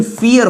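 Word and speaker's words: vier: भले ही आपको वियर दिख रहा होगा बट इसका प्रोनाउंसिएशन फियर होता है।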